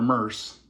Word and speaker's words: Merce: So I always say that to everybody, and we call her Merce, kind of like a purse.